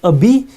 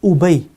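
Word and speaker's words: أبي: Now this word can be pronounced as abi in one context. In another context, it may be pronounced as ubay.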